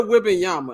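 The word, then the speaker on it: Wembanyama: room with this man let's talk about Victor whing Yama and for all you media Outlets who gonna act like you don't to pronounce a name is wh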